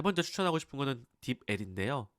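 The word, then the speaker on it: DeepL: 자, 세 번째 추천하고 싶은 거는 딥L인데요. 딥플이라고 읽기도 하고 이게 그 최근에 많이 유명해진 번역기인데 되게 좋아요.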